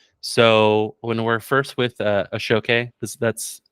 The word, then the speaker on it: Ashoke: So when we're first with Ashoke, that's how it's pronounced.